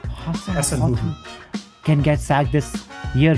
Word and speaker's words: Hasenhüttl: And let's see if Ralph, how do you pronounce his last name? Hasenhüttl.